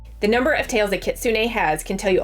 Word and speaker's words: Kitsune: First of all, I hope I'm pronouncing Kitsun right. Actually, let me look it up. Okay, so I wasn't pronouncing it correctly. According to the YouTube, it is Kitsune.